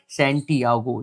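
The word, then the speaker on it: Santiago: देख लेना स्पेलिंग देख लेना इसकी और जो प्रोनंसिएशन है सेंटियागो जो एक हीरो है द ओल्ड मैन एंड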